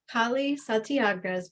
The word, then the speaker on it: Kali Satyagraha: had talked earlier to make sure I would pronounce nikali's uh name correctly so you did well one more time Kali santiaga's profound calling is as a dakini or awakened